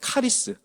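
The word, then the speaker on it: χάρις: 은혜는 어 헬라어로 하리입니다 그 우리가 자주 듣던 카리스 원래 발음은 하리입니다 은혜란이 하스라 단어인데 기쁨과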